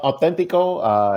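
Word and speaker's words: auténtico: pronounce it right. Yeah, yeah, authentico.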